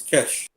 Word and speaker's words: cache: It's how you pronounce it. It's cache.